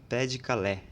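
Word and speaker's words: Pas-de-Calais: pai de Calé é que se escreve na verdade pais de calais mas em francês seria pé de Calé você não está certo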